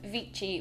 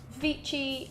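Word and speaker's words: Vichy: I use is the vichi oh it's not vichi is it it's vichi cuz it's French I'm really bad at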